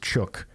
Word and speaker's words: chook: Everyone loves a good roast chook. Note, chook rhymes with book.